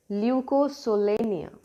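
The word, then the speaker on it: Leucosolenia: The name is very interesting to pronounce as leucosolania.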